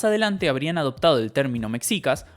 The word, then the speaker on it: mexicas: ahí y más adelante habrían adoptado de término mexicas o mexicas como se pronuncia en mexico para referirse a ellos mismos